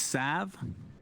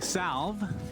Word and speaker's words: salve: it called healing cell did you know it's sav does it have to be that that's the correct pronunciation if you say healing salve like me and cinderin